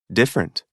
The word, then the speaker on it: different: a listen and practice the vowel immediately after a stressed syllable is sometimes not pronounced average different separate comfortable interesting vegetable